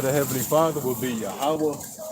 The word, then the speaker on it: Yahweh: Okay, yeah, that's Yahweh. That's Yahweh. Yahweh. Okay, so You gotta pronounce the word right.